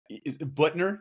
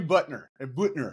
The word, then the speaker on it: Buettner: that Buttner.